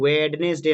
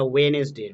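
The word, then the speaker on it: Wednesday: এখানে ওয়েডনেসডে নয়, এটা ওয়েনেসডে, ডিটা কিন্তু এখানে উচ্চারণ নয়।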